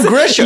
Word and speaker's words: Grisham: It's John Grisham. You say it how it's spelled. John Grisham. You just pronounce the H.